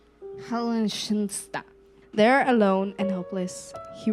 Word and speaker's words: Heiligenstadt: actually have no idea how to say this, Heiligenstadt. Heiligenstadt.